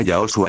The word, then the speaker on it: Yahoshua: Joshua se pronuncia Yahoshua en el hebreo original porque en el hebreo no existe la J.